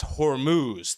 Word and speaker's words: Hormuz: It's pronounced Hormuz.